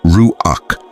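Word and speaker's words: רוח: In Hebrew there's the word ruak pronounced ruak which shows up over 300 times in sacred texts.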